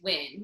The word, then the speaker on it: Wynn: so even so my my maiden name is win which is w-y-n-n and people would screw